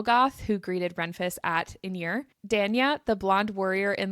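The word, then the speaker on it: Irin: So I'm still a little confused by this, but they say it multiple times and it is pronounced inir.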